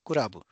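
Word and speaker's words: クラブ: And when we pronounce it, it's kurabu.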